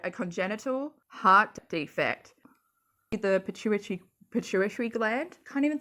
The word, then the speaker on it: pituitary: No, I'm saying tree, aren't I? It's not tree, it's turi.